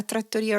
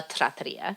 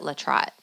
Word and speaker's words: trattoria: And there was a small trattoria, and it was called La Trattoria. See? And all of us called it La Trot. Sounds like a trout.